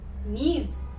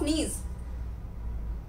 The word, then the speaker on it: knees: These are knees. What is the spelling of knees? K. K is silent.